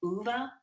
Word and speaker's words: Ove: He wrote a man Called UVA which is spelled ov and that was a bestseller.